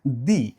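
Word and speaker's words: the: নির্দিষ্ট আর্টিকেলের মধ্যে রয়েছে দি, নির্দিষ্ট আর্টিকেলের মধ্যে রয়েছে দা। আমি একবার বলছি দি, একবার বলছি দা, ব্যাপারটা কি? এই টি এইচ ই এটার উচ্চারণ কখনো কখনো হয় দি, আবার কখনো কখনো হয় দা।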